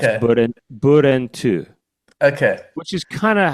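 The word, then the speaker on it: 브렌트: Brent in Korean is actually three syllables. It's Okay. burentu, Okay.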